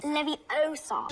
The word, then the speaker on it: Leviosa: You're saying it wrong. Leviosa.